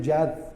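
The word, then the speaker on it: יד: Se dice Yad, pero se escribe igual que Yod.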